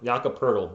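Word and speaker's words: Poeltl: pearl's turtle mason because his last name rhymes with turtle yakapurtl we call him the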